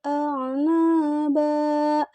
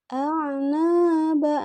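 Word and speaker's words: أعنابا: Hadaiko wa a'naba. Perhatikan a'naba, na-nya di ayun naba. Gitu ya. Jadi jangan sampai salah lagi bacanya.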